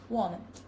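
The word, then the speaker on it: 我们: In natural, connected speech, a third tone loses its final rise and is pronounced as a low falling tone when it occurs mid-phrase. For example, woman becomes woman.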